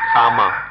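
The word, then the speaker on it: kamma: But if we understand karma is the Sanskrit pronunciation, kama, the Pali pronunciation.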